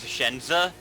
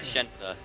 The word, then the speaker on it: Shenza: 'Cause Yeah, it's- just like my thing is Shenza. You know that weird like jumble of letters at the top? That's pronounced Shenza. Yeah. It looks German. A lot of people say that. Probably because of the Z.